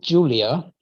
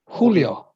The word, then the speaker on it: Julio: has j uh pronounced in spanish they pronounce j like yeah yeah like i mean yeah yeah exactly i know that from uh pacquiao's opponent marquez you know more casual yeah so in english it would be joanne manuel marquez but they always say when yeah yeah and also they say not julia julio julio julio chavez yeah yeah yeah so